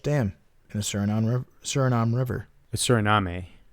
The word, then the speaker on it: Suriname: Suriname, I think, is the official pronunciation.